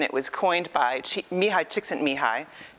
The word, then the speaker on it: Csikszentmihalyi: was coined by Mihai Csikszentmihalyi yes that is how you pronounce it and he wrote this